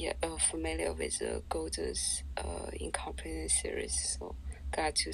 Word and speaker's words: Gödel: Did you say Gödel's incompleteness or golden incompleteness? Gödel's incompleteness. I'm pronouncing it in the German way.